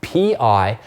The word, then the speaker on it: pi: the Greek letter pi P I which you just pronounced like pi that you'd eat all right it's this